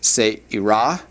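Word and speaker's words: צעירה: And then the last one, the feminine singular word for young, is se'irah.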